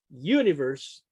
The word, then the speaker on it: universe: Universe is actually the sound U. It's the first phoneme is a semi-vowel. It's not a consonant. It's not a vowel. It's a semi-vowel. It's in between.